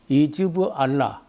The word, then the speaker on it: 헤즈볼라: 그러면 이제 헤즈볼라라고 하는데 이즈브 알라, 이즈브 알라라는 말을 헤즈볼라 이렇게 발음하는데 알라의 정당이라고 하는 그 정식 정당입니다.